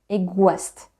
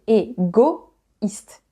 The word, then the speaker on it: égoïste: O et I, O et I, ensemble, cela devrait être wa, egoiste. Mais il y a un trema, donc on dit égoïste.